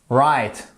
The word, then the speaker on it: write: la prononciation pourquoi puisque lorsque vous avez WR le W la plupart du temps ne se prononce pas write to write écrire to